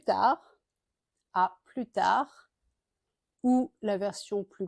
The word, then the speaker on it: à plus: à plus tard mais à plus avec le S qui est prononcé cette fois ou bien à la prochaine.